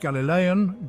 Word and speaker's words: Galilean: community kumran was destroyed in 68 ad galileon pronounced Galilean Galilee is a region located in Northern Israel